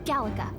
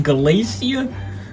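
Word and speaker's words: Gallica: name by the way it's Gala I pronounced that so wrong galacia no Gala okay so you travel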